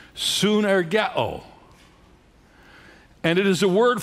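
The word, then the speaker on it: σύν: written this expression translates a word in the Greek language which is pronounced sun and it is a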